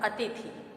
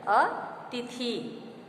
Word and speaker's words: अतिथि: अतिथि अशुद्ध है अतिथि, जबकि शुद्ध शब्द हमारा है अतिथि। यानी मात्रा का इसमें आपका बड़ी ई और छोटी ई से जो उच्चारण स्पष्ट होता है वो इसमें दिखाया गया है कि पहले में बड़ी ई थ पर आप देख रहे हैं कि बड़ी ई है तो उसका उच्चारण होगा अतिथि, जबकि शुद्ध है अतिथि। दोनों पर छोटी ई की मात्रा का प्रयोग होगा।